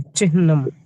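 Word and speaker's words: चिह्नम्: तो इसको चिह्नम बोलना चाहिए, चिह्नम, अरे हाँ में आ थोड़ी है।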